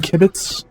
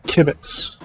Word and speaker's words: Kibitz: It's I am Kibitz. Yes. Or Kibbitz, not Blitz or whatever it was that I said.